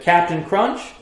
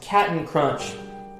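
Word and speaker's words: Cap'n Crunch: of this famous cereal is it Captain Crunch or is it cat and crunch let me know in the comments below if you said Captain Crunch you are wrong it's cat and crunch yeah pretty weird it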